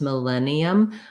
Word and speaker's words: millennium: It has the I vowel like in like in the word mill or will or it, mill, millen. I'm going to write two L's here. As we're linking syllables, we're only saying the L sound once, millennium, but as you're breaking